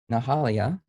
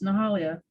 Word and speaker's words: Nahalia: And you hit every syllable. It's Nahalia.